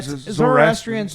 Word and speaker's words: Zoroastrians: Zoroastrians. They're It's a It's an old religion. Okay, that's right. You pronounced it correctly.